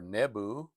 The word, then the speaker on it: Nebo: Um they had um Nebuchadnezzar's own name gives praise to Nebo or Nebu, sometimes pronounced.